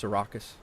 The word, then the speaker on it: Syracuse: Uh, Skenctity, Albany, Albany approach, Syracuse approach or Sarraus if you will. Um, say it correctly. It's Sarraus.